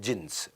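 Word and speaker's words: Djinns: में क्लब होता था जिंस डी जिंस लिखता था डी साइलेंट होता था जिंस वो जिंस में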